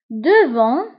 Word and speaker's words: devant: Devant, devant, amama. Devant, amama. فانتبهوا بالنسبة لدevant نكتبوها بالT في آخر الكلمة ولكن لا ننطقها.